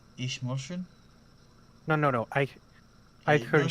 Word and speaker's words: Eichhörnchen: the umlaut over the O turns it from an O sounding to a U sounding.